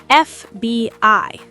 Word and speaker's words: FBI: FBI. So it starts with F, which is a vowel sound, an FBI agent.